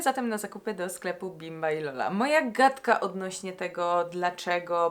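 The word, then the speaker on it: Bimba y Lola: który pojawił się na moim celowniku to sklep bimba i Lola ja muszę sprawdzić jak się wymawia to markę okej bimba i Lola bimba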